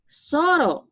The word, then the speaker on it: Solo: Soro shushin desu. Ya. Orang Jepang nggak bisa bilang L, jadinya R ya. Soro. Solo itu Soro.